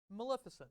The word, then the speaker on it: Maleficent: I'm going to do Maleficent.